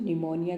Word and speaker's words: pneumonia: बच्चों निमोनिया की स्पेलिंग को ध्यान से देखेंगे. बी साइलेंट है. निमोनिया.